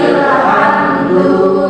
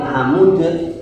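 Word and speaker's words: حمد: Walillahil hamdu menjadi walillahil hamd. Hamd bukan hamud.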